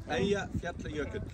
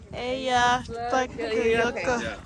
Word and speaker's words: Eyjafjallajökull: So how do you pronounce it again? Eyjafjallajökull. Eyjafjallajökull.